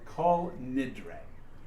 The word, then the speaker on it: Kol Nidre: to say tonight it's called and you couldn't pronounce it it's called call nidre call means all nidre means vows and it's